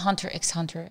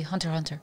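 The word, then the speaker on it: Hunter × Hunter: not Hunter x Hunter it's not Hunter x Hunter a lot of people say it wrong they say Hunter x Hunter but in fact it's actually Hunter Hunter why is the X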